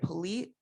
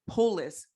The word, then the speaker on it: Polis: excited we have the governor of colorado jared polite polis i want to make sure you pronounce it correctly will be joining us he